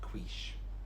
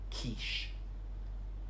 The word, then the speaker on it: quiche: I know you want to say quiche, but it's just quiche.